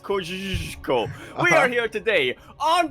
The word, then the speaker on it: Kosciuszko: It's pronounced Kosciuszko.